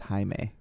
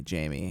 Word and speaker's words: Jaime: I had a Spanish name and it was Jaime because that was, I guess, the closest to Jimmy. Yeah. Jaime sounds like a K-pop star's name. The problem is that I think the translation is technically closer to like Jamie, Yeah. and then so some douchebags have called me Jamie, and I don't appreciate that.